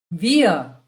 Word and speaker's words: wir: Wir. It's W-I-R. But we pronounce it as wir. The R at the end is always silent.